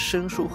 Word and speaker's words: 神荼: The earliest human door gods refer to the two brothers Shen Tu (usually pronounced as "shēn shū") and Yu Lei (usually pronounced as "yù lǜ").